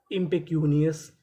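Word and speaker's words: impecunious: आई एम एम पी ई पे इम पे सी यू क्यू इंपेक्यू एन I knee O यू एस अस इंपेकस इंपेकनियस इंपेक्यूनियस।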